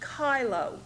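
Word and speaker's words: chylo: part is is pronounced kylo the CH has a k sound and as you can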